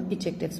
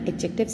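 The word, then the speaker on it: adjectives: इसको एडजेक्टिव नहीं बोला जाता, इट स्लाइटली प्रोनाउंस होता है डी, एडजेक्टिव्स इसको बोला जाता है.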